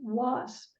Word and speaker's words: wasp: But the S sound changed under the influence of the preceding W, so it's pronounced wasp.